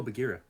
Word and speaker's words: Bagheera: Before Because, like, I have an Gira? island. Before Gira? Thank you for joining us. Sorry, I horribly butchered your Bagheera. Where? Bagheera. Oh, Bagheera. Oh, it's like an A.